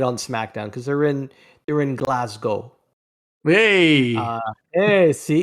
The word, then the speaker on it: Glasgow: Watch tonight on SmackDown because they're in Glasgow. Hey, Hey, see, it's a North American thing. I think us North Americans butchered it and decided we're gonna pronounce the W, which it's for show.